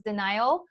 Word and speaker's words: Danial: It's actually Daniel, but it's the Persian pronunciation. I wanted to just be authentic. Everybody pronounces Danial, and it's just not good.